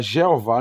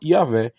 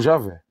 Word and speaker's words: Javé: entretanto aos poucos esse nome vem sendo substituído pela forma yavé ou Javé que é a pronúncia mais próxima do original o tetragrama vem do